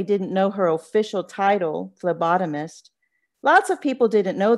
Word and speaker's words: phlebotomist: she liked saying it phlebotomist at first juanita thought it was spelled with an f but when she learned it was spelled with a p she straightened up a